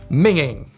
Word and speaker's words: minging: unappetizing or highly unattractive minging make sure you pronounce it the right way mint absolute mint Bay